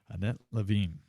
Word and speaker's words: Lavigne: how do you say your last name correctly loving yes it's a wonderful name it's a wonderful